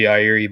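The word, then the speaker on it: Yairi: what you're talking about I think it's technically yiri but it's Yari because I'm a dumb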